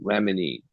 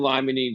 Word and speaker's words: limonene: And maybe not all terpenes, but one terpene that probably will fit into that is that limonene, right?